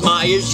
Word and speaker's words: Myers: who can't spell it how it's pronounced is Myers yet now I'm doing